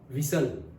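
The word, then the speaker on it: whistle: school में था तो हम बोलते थे विसल विल बोते मारने को क्या बोलते थे विल अब क्या बोलते पता है विस्टल हा अभी इंग्लिश में सही प्रोनाउंस क्या है विस्टल य टी बोलना है अभी जब हम पढ़ते थे तब अगर टी बोलते तो डंडा पड़ता भाई टी साइलेंट है साइलेंट है और अब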